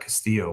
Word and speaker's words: Castillo: I hate how Castillo, because as somebody who does not have a Hispanic bone in his body, I've been corrected my whole life if you say anything but Castillo when it's spelled that way.